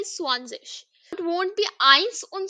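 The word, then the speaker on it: zwanzig: okay act Z no Z now 20 is swanes okay so Zed is pronounced as s so similarly we'll say swanes next now see from 21 to 100 the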